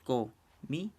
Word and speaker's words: comité: Y la palabra comité se separa en tres sílabas, comité. Entonces, estas palabras aquí son muy sencillas de clasificar. ¿Por qué? Porque ya sabemos que la sílaba tónica va a ser la última.